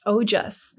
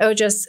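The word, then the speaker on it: ojas: call the word um oh just have you heard of that no how do you spell it o j a s oh okay and i i really feel like it's similar to mojo you know oh jess i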